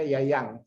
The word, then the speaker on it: Jajang: Jadi kalau Jajang itu dibacanya Yayang. Nama Jajang itu datang ke Belanda dipanggilnya Yayang itu. Ya, J itu jadi Y katanya seperti itu ya.